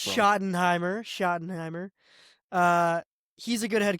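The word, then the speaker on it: Schottenheimer: I don't know how to pronounce his last name. Brian Shottton, whatever. Shottenheimer. shot. That's what I said. Shut off. There's no You You said a G in there.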